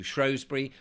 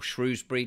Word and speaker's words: Shrewsbury: beautiful places I mean I've been to shury or Shrewsbury depending on how you want to pronounce it and there's some wonderful